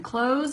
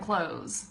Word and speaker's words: clothes: like that yes Anderson clothes and clothes it's basically pronounced the same way I mean it is